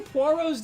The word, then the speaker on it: Poirot: How many Poirots do you know?